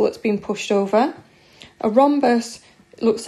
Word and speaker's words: rhombus: with our age okay the H is silent and this shape is called a rhombus okay and the special